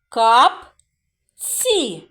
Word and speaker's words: капці: складів в цьому слові кап ці так два склади наголос на який склад падає капці так на перший склад на голосну а а друкувати слово діти